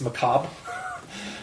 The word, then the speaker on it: macabre: The other thing is it's not macabre; it's macabre. The R is silent. Macabre.